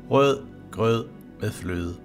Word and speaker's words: rødgrød med fløde: One sentence that is always a challenge for the foreigners is Rødgrød med fløde.